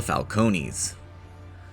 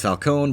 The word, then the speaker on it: Falcone: Catwoman is related to the Falcones. I know it's Falcone, but the games pronounce it Falcone, so that's what I'm sticking with.